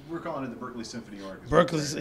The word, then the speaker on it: Berklee: orchestras how do you say the Berklee Orchestra Berkeley yeah so to get the Berkeley Berkeley Symphony